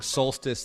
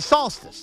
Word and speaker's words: solstice: Jake instead of Matt I like how you're pronouncing Solstice like salsa it's it's the solstice the summer solstice these little Tails have